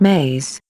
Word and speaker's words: me: which we will call me's pronounced maze belief system and words